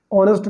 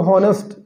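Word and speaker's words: honest: ठीक है, ऑनर को बोलेंगे हॉनर, ऑनेस्ट को हॉनेस्ट, ठीक है, आवर को हावर, तो ये सब गलत है। ठीक है, इनका एच साइलेंट है, जितने भी इसमें एच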